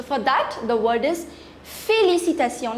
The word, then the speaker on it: félicitations: So for that, the word is félicitations. Let's just break the word and pronounce it. Fé, L-I is li, C-I is si, T-A is ta, T-I-O-N is sion. Félicitations. Félicitations.